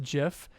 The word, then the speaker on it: Jif: We will find out later his name is pronounced Jif, just like the peanut butter.